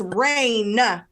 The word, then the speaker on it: Raine: the name Reigns winner her other cousin's name is Reigns it's spelled differently and it's rain there's not enough it's Ava rain Bobby once again I